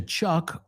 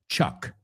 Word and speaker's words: chuck: So, wow, that's a really rich word, chuck. Okay, and the second word? Chalk. Chuck. Chalk. Chuck. Chalk. Do they sound the same? Absolutely not. [screaming and cheering] Chuck rhymes with luck.